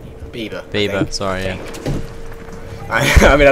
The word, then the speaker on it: Bieber: the difference between Robert Green and and Justin bber Bieber Bieber sorry I mean I love him so